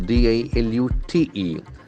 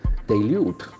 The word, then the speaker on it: dilute: Then comes D-I-L-U-T-E. Dilute. See the pronunciation. Dilute. Dilute. The accent falls on the second syllable.